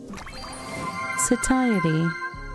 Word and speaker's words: satiety: It's got a schwah at the first syllable. So s and then that satiety. Yeah.